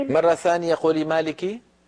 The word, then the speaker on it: مالك: الرحيم مالك يوم الدين مره ثانيه قولي مالك مالك يوم الدين ام ام